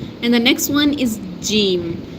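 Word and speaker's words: ج: the middle part of tongue is touches the upper palate here and say touches the upper palate here and say jim, jim.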